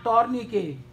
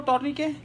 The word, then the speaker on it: tourniquet: Put a tourniquet proximal to the site of injection. We don't have tourniquet now. You know tourniquet? Yes. It's not tourniquet. Tourniquet. T is silent.